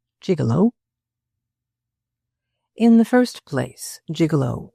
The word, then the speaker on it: gigolo: In the third place, the G-I-G is pronounced gig, and the whole is not a respectable word. Finally, it is a term of utter contempt. A gigolo, generally speaking, is a man who lives off women's money.